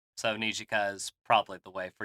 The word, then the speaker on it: Nijika: Pronounce that one for me, Sean. It's Nijika Ichiji is her name. So Nijika is probably the way for you to remember it best.